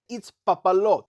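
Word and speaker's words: Itzpapalotl: But he pronounced it as the following. It's Papalotl.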